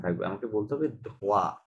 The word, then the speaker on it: droit: uh, droite ধোয়া, রাইট, হ্যাঁ, ধোয়া, রাইট। এখানে টি আর droit এস সাইলেন্ট থাকবে, হ্যাঁ?